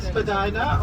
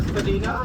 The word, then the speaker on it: Spadina: So we're now on Spadina or Spadina. If you're wondering about the pronunciation, both are correct. In today's time we say Spadina, but back in the day the upper class will call it Spadina and the working class will call it Spadina.